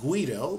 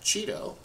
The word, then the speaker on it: Guido: review what uh Cheeto because he's Dutch not Italian I know it looks like Guido but in Dutch you would pronounce that Cheeto but Cheeto when he invented python